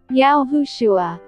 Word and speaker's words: Yahushua: the genuine messiah is yahushua accented on the syllable who 2.